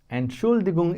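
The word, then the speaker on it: Entschuldigung: And so T is kind of silent, but we'll say and Okay.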